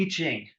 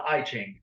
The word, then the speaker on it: I Ching: Now, who here has ever heard of the I Ching, or if you want to mispronounce it, the I Ching?